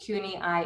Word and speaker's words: CUNY-IIE: bit more to who CUNY-I is, pronounced as I, as in we see each other, and I, as in I stand here before you.